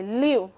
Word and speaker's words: live: अब जैसे लिव, they लिव in Pakistan, तो यहाँ पर देखें लिव के स्पेलिंग भी यही हैं, तो उसको हम आई की साउंड नहीं देंगे, उसको हम ई ही बोलेंगे, लिव।